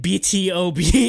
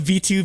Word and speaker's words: BtoB: it's it's exid and BtoB instead of v2 because you wouldn't normally think you print you pronounce the letter then pronounce like 2